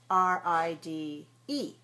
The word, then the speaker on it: ride: If I have R I D E, the E which is silent is an indicator that the pronunciation of the letter I is like the name of the letter I ride.